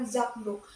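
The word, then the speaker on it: zakdoek: Ketika kedua kata itu digabung sehingga menjadi zakduk. Sapu tangan diucapkan dengan zakduk. Bunyi ke pada z berubah menjadi geh velal bersuara karena dipengaruhi oleh faktor deh yang mengikutinya.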